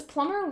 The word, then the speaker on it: plumber: Plumber, does plumber rhyme with lumber? Because, like, the B is silent in plumber.